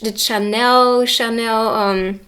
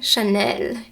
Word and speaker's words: Chanel: You can see that, luxury, the Chanel. It's so weird to say it with the English pronunciation. Chanel in French.